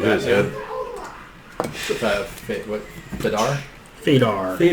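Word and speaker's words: Fuydar: Fadar. there. Fadar appears. Wrong emphasis.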